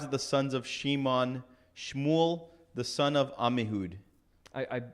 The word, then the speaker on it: Shmuel: From the tribes of the sons of Shimon, Shmuel, the son of Ammihud. I appreciate that you pronounced Shmuel correctly.